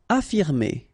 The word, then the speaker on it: affirmer: Affirmer. Okay, even if we've got two F, well, only one should be pronounced, so affirmer.